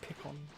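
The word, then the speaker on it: Pikkon: Don't they pronounce it Pycon in the show? I don't know, but I pronounce it Pickon. Because it's really like Piccolo, Pickon.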